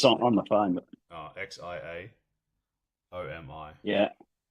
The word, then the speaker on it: Xiaomi: How do you how do you spell it? I can't say it's on the phone, but Oh, X I A O M I.